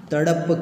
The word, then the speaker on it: तड़प: यहाँ तड़प कर, यहाँ तड़ जो है उसका उच्चारण सही करना है, क्योंकि यहाँ नुक्ता, नीचे जो अक्षर के नीचे बिंदी लगाई जाती है उसे नुक्ता कहते हैं, तो उसका कुछ उच्चारण में स्थान होता है, इसीलिए यहाँ हमें सही उच्चार करना है।